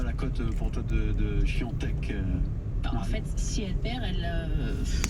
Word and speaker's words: Świątek: Alors, je vais essayer de bien le prononcer à la polonaise. C'est Świątek, la favorite Świątek.